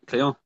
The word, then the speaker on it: Llion: That's how you pronounce it, isn't it? Llion?